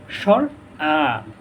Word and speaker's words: স্বর আ: এটাকে আমরা সাধারণতভাবে বলি সরেয়া সরেয়া, কিন্তু এটা সঠিক উচ্চারণ হবে স্বর আ, স্বর আ, স্বর আ।